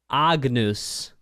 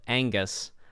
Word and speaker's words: Agnus: stuff also now now now that I'm pronouncing this correctly it is indeed Agnus Agnus instead of Angus I was thinking like Angus Young for Macy DC you know or Angus beef you know like steak and